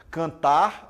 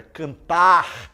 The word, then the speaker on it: cantar: são chamados de cacoépia exemplo omitir fonemas olha só e umas pessoas fala se ó cantar aí falam em vez de cantar falou canta Trabalhar Trabalha amor fala amo então você tem que ir pronunciar todas essas palavras todos esses fonemas da cantar trabalhar amor muito bem abóbora